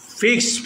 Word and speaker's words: fixed: ফিক্সড price shop. ফিক্সড। FIXED, এইখানে ইডির উচ্চারণ কি হবে? টি, অর্থাৎ ঠা উচ্চারণ করো।